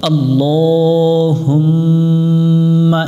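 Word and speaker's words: اللهم: এখানে আল্লাহ পড়ি, আল্লাহ পড়া যাবে না, কারণ এটা আল্লাহ শব্দ। আল্লাহ শব্দের ডান পাশে জবর এবং পেশ হলে আল্লাহ শব্দের লামটাকে মোটা করে পড়তে হয়। এটাতে জবরে আকার পড়া যায় না, লাম জবর লা হয়।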